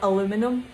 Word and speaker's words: aluminum: great trick is to get the aluminium or aluminum depends how you say it um get a